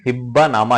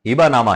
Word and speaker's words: हिबा नामा: ई book का title हिब्बा नामा ही रखा है और मेरे वीडियो का भी टाइटल हिब्बा नामा ही रहेगा, लेकिन इसका सही उच्चारण हिबा नामा है, जो अरबी भाषा का शब्द है।